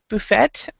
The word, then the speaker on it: buffet: So, there are two pronunciations for that word, and both of them are completely correct.